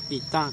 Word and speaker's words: Itá: Itá, con acento nasal.